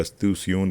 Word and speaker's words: استیشون: مغرب میں واقع ہے۔ مدینہ منورہ کے عرب باشندے اس لفظ کا تلفظ اسٹیشن کی بجائے استیشون کرتے ہیں۔ یہ دمشق کے اسٹیشن